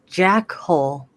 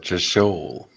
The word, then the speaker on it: Jeshol: Jeshol. It's That's not how they say it. how do they say it? We know how to read. It's obviously Jackhole, Kupo. Jackhole. It's like you said, just shoal.